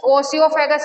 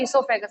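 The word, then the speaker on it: oesophagus: ठीक है, ये चेंज हुआ है प्रोनाउंसिएशन, पहले इसको ओसियोफेगस कह देते थे, अब इसे ईसोफेगस कहा जाता है।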